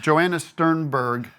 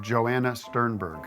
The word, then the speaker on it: Joanna Sternberg: We have Joanna Sternberg. Did I say that right? Yes, correct. I'm nervous about my pronunciation.